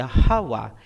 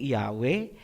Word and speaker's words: Yahawa: Ang pangalan ng Ama ay Yahawa. Hindi Yahwe, hindi Jehovah, hindi Ahaya, hindi Yahova at mas lalong hindi Jesus Christ. Lahat ian. ay Babilonian masuretik na bigkas.